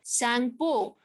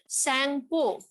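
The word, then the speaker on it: Tsangpo: The river Brahmaputra originates from Tibet, where it is called Sangpo. So we will not pronounce the T, okay? It will be called Sangpo, okay? So in Tibet, the name of river Brahmaputra is Sangpo.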